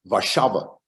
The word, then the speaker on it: Warszawa: In Polish, every word has its stress on the next to last syllable. That's why it's Warszawa or Święcim.